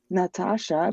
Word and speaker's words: Natasha: It just irks me because one of the A's is pronounced as an E, like Natasha, Oh, It just yes.